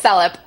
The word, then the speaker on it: Selip: Is it pronounced Selip? Yes, Selip. I got it right.